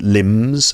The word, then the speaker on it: limbs: let's say with elongated limbs limbs are arms and legs right there's a B in the word limbs but the the B is silent like in climb okay and comb uh